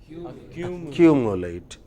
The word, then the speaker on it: accumulate: Okay, when you have words like this ending in ATE, they always take stress of 2 syllables before ATE. So, what will be 2 syllables before ATE? Q. How would you pronounce it therefore? Accumulate.